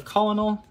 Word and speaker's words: colonel: there's our playset of the colonel or kernel i guess i forget that that's how you spell it because there's no r in there so it just looks